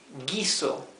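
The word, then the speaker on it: guiso: u in between and this is not gu this is G okay the U is mute so this is G or War G gizo for a stew to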